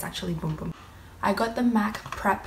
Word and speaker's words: Bum Bum: um be um and a lot of people think it's a bum bum cream but it's pronounced boom boom cream I actually went to